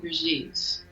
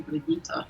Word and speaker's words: Brigitte: I pronounce it Brigitte, the French way. But yeah, since I moved to Germany, a lot of people call me Brigitte, so...